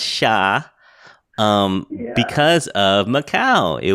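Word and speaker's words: chá: say Portugal you're right yeah in Portuguese is pronounced sha um because of maau it was they got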